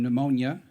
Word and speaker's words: pneumonia: Some of my favorites include the P in pneumonia, the S in apppropo, and the gh in ought, bow, and do.